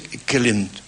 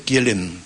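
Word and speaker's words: Kjellén: Suecia se pronuncia la la J se pronuncia como I si vos decías Juan diría ionas Y entonces podría ser kelen Sí rudolf kelen para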